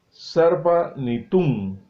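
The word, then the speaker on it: Sarpanitum: Vamos a pronunciarlo de la forma correcta, Sarpanitun, con M al final.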